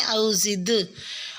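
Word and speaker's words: أَوْ زِدْ: انشاءاللہ۔ آیت نمبر 4 میں لفظ او زد علیہ میں دال ساکن پہ قلقلہ کریں، او زد، اور عین کا مخرج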